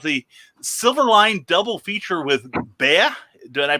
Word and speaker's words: Bea: Excited about the Silverline double feature with Bea. Did I pronounce that correctly?